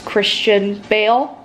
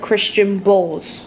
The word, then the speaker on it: Christian Bale: Joker okay so I I said it wrong it's Christian Bale I said Christian Bulls so please crucify me